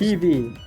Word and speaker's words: Hebe: Hebe, Okay, it's pronounced Heebie. Hebe, primarily refers to the Greek goddess of youth.